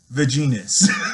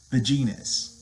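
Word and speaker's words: vegenis: Vaginus. And that is spelled V-E-G-E-N-I-S. Vaginus.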